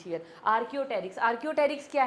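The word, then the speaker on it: Archaeopteryx: Already बात कर चुके हैं इट इज़ नॉट आर्कियोपटेरिक्स पी is silent here आर्कि आर्कियोटेरिक्स आर्कियोटेरिक्स क्या है?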